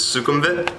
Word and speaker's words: Sukhumvit: is a main street this is sukumvit right that's how you say it and yeah it's pretty